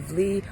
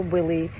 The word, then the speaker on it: Wli: So Wli or Willy, depends on how you say it.